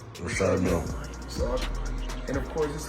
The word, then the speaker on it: Richard Mille: No, I like to call this, well, people pronounce them different ways. Richard Mille is what my jeweler told me, so. That's exactly how you say it, Richard Mille.